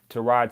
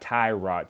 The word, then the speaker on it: Tyrod: this year I mean to Rod Taylor because people this is what I learned his name is not Tyrod Taylor it's to Rod Taylor we've all been saying it wrong but as besides the